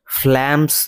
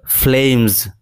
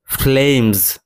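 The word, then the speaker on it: flames: এখানে এই শব্দের উচ্চারণ কিন্তু ফ্ল্যামস নয়, এটা উচ্চারণ হবে ফ্লেমস। ফ্লেমস অনেকটা জেটের মতো ভাব আসবে, আর ফ্ল্যাম না বলে ফ্লেম।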